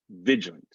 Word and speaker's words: vigilant: like garage garage garage vigilant is going to sound like vigilant it's almost like we're going from the g straight to the l vigilant vigilant vigilant tribunal the